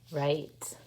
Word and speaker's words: write: let's look at it w-r-i-t-e says right like i will write